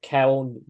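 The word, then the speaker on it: Köln: and drawn one so then the BF say Kell not column well yes they've become but in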